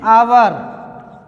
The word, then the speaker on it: hour: Example के लिए देखते हैं, एन आवर, HOUR आवर, N honourable, N honourable person. देखो प्रथम लेटर व्यंजन है लेकिन उच्चारण ध्वनि में क्या आ रहा है, आवर, आ एक वोवेल है, स्वर है, स्वर से